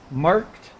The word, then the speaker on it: marked: help you with marked just a t sound marked and Merchant so the